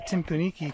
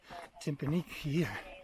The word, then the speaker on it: Timpooneke: welcome to the tim kunike trail often mispronounced as timpaniki or nuki rather this i think